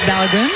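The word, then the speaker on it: Balogun: There's Balagoon.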